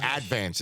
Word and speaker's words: Advance: for the stat yes the advance as they say in stat now they put the syllable they put the accent on the first syllable now how long were